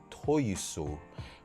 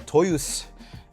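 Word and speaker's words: Toyosu: I did go to another Toys R Us store uh in uh Toyusu or Toyus. They don't pronounce the U.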